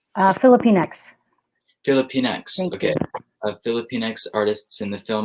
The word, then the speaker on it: Filipinx: Sorry, is that pronounced correctly? Filipinx.